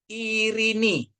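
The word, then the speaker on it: Ειρήνη: Kalau epsilon ketemu yota dia bacanya jadi i jadi irini ya. Ini perhatiin ini ya. Ini diptong ya dua tapi dia bacanya satu i. Jadi bacanya irini ya.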